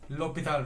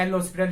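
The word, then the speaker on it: L'Hôpital: इस रूल को हम बोलते हैं लोपिताल रूल। अब लिखने को तो मैंने एल हॉस्पिटल लिख दिया, बट एक्चुअल में ये एक फ्रेंच वर्ड है, तो प्रोनाउंसिएशन इसकी क्या है, लोपिताल।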